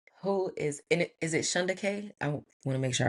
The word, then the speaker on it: Shunda: So, so who is and is it Shondaanda? I want to make sure I'm pronouncing your name correctly. Shand.